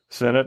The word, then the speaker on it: senet: think it's based on senet right I think you're right okay Senate I've heard it's senate or CET um there was also